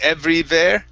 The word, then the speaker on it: everywhere: everywhere EV give me a good V sound every everywhere everywhere everywhere yeah give me a a good W so we don't want to hit two vs saying everywhere it's everywhere everywhere everywhere